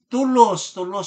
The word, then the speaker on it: Toulouse: Ang Council of Toulouse pala ang pronunciation nito.